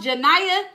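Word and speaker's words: Genia: Oh, it's pronounced Janiah. Girl, I'm all the way off. But wait, G E N I A. The G is I don't know, girl. Janiah is how you pronounce it.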